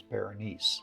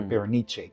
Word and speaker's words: Berenice: Now, my favorite story is Berenice, or Berenice, depending on how you want to pronounce it.